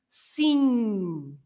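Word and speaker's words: sim: It's a nasal sound, no M sound at the end, right? So congratulations, Carl. The word is "seen," right?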